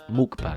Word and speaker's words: mukbang: or the print or the proper way to pronounce them mukbang I am not going